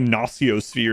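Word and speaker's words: Noosphere: Apparently, no sphere is how it's supposed to be pronounced.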